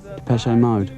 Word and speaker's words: Depeche Mode: Depeche Mode. And we just decided we liked the sound of that name. And we chopped off the accent and we just kept the pronunciation.